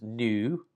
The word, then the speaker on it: nu: This is nu, and it looks like a V, but it's technically the pronunciation of the letter N in English.